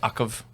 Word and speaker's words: UCV: Or us in the field call it Ukov. Yes, That's how it's pronounced.